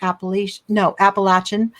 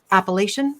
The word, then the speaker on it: Appalachian: And we pronounce it different from the New England area. It's called Appalachian. Mm-hmm. Mountain, but here it's Appalachian. So other way around.